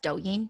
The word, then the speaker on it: Douyin: It's pronounced Douyin, yeah. Douyin.